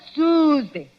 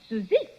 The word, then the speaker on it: Suie: cannot help it suie oh no no no no no not Suzy suie you make it so